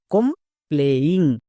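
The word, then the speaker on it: complaining: এবার একসঙ্গে উচ্চারণ করো, কম প্লেইং।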